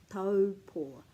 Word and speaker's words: Taupō: So for example, this one is au, au, au, which turns into o, which is the word for I, o or aho, and it rhymes with whānau. Whenever you see this, it will rhyme with o. Whānau, taupō, tauranga, te kauwhata. All of those words with that in will always make that sound o.